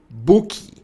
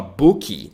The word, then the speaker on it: book: Então, é por isso que a gente acaba falando book. Tá, ok, eu sei que tem a vogal de apoio, que a gente também coloca, que nós brasileiros tendemos a colocar no final das palavras, então a gente tende a falar bookie, goodie, né?